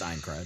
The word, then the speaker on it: Aincrad: Yeah, it's Aincrad.